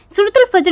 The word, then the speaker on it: Fajar: तो चलिए जान लेते हैं आज के खूबसूरत नाम है फजर।